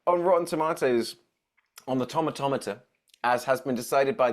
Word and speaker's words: Tomatometer: like I think on Rotten Tomatoes on the tomatometer as has been decided by the internet as how it's we pronounced because I I did a video and